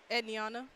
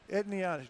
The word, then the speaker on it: Edana: to and to Barnes how do you say her first name edana edana just like it spelled mhm they could have